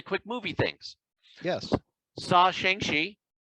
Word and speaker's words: Shang-Chi: Saw Shang-Chi. Shang-Chi. Sure. I found out how to properly pronounce it.